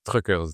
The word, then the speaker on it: Truckrs: fondateur de Truckers donc on prononce Truckers. T R U CR RS. Il y a pas de e, c'est un petit clin d'œil marketing.